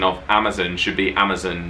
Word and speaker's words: Amazon: oh okay so i us brits we say amazon and i didn't realize that was weird until i said it on my instagram stories if you're not following us on instagram and i got so many replies from americans being like amazon where's the vowel it's amazon and i was like no it's not it's amazon it's amazon so i think we've